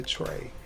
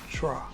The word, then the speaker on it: Trey: Even when I shorten it to Trey, they still want to pronounce it as Tra.